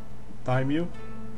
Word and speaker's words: daimyo: Sorry, what's the pronunciation? Daimyo.